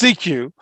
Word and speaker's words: SECU: Maryland stadium uh so I believe it's pronounced see you because I don't have that same CQ it's CQ State Employees Credit Union yes